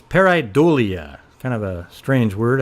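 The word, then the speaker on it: pareidolia: ambiguous visual pattern okay now here's how it's pronounced parolia Okay let's listen to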